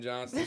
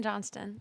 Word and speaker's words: Johnston: And that's Johnson. She was supposed to say her name. Oh, I'm sorry. I'm Johnston.